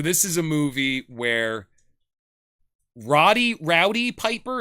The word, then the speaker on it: Roddy Piper: And so this is a movie where Rowdy Piper, is that how you say his name? Yeah, or is it Roddy Piper?